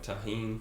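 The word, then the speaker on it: Tajín: Oh, I think they say it like tahine. Tahine. That's right. Yeah, tahine. Yeah, because the J is not like Jose. It's like, hey, it's like, yeah, tahine.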